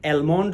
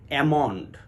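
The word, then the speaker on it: almond: ও এন ডি অনেকেই অ্যালমন্ড বলে অনেকে আলমন্ড বলে দুটোই অশুদ্ধ উচ্চারণ বিশুদ্ধ উচ্চারণ হবে অ্যামান্ড এল এবং এম যখন একটি শব্দে পাশাপাশি বসে তখন এল এর উচ্চারণটা সাইলেন্ট হয়ে যায় এমনড ঠিক তেমনি করে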